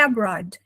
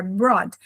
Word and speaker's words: abroad: Tudo é abroad. Essa palavra, abroad. Na pronúncia americana, bem O, abroad. Na pronúncia britânica, você vai ouvir e vai falar mais um O, abroad. Mas é a mesma palavra, ok?